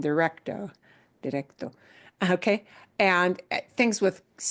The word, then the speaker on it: directo: That dir is a thing in English that really carries over, and people think they're saying directo, directo. And they're not saying directo, they're saying directo, directo.